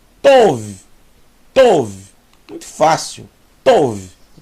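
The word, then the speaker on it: טוב: Vet são V então aqui eu tenho T mais o mais V tov tov muito fácil tov que quer dizer bom tov meod muito bom Laila tov Boa noite Boer tov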